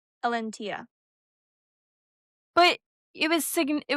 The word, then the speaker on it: Elentiya: There's First of all, let me tell you how it's pronounced. It's pronounced Elantia. Elantia. Elantia.